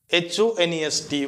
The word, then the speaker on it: honest: कोन आसुची ऑनेस्ट HONEST what is the pronunciation of HONEST that is honest so that students जेतु Etah consonant letter अछि but एटा जो sound अछि सेटा it sound vowel letter is consonant but it sounds vowel consonant letter s type